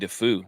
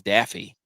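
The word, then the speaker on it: Daffue: you don't pronounce MJ defu he said it's Daffy like Duck Byron who's South African yeah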